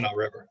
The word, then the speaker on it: Tanana: Is the Tanana River? Is that the correct pronunciation? Tanana River.